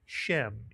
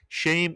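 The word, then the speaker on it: שם: And some people would say shem. Either way is correct. Shame or shem means name. The English rhymes with the Hebrew shame and name.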